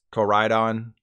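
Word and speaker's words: Koraidon: Deez Nuts Joe jokes if you're worried about corydon's pronunciation don't be it's Corydon okay now we get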